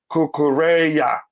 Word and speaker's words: Cucurella: small note to everyone kukuru last name is pronounced somewhat like kukureya yes yes okay thank